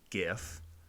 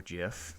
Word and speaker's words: GIF: As you can see, you can do a JPEG, a PNG, or even a GIF or GIF, depending on how you say it, at a 3:2 ratio.